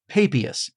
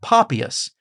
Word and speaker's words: Papias: I say that this church father's name is Papias, but others might call him Papias, or some might even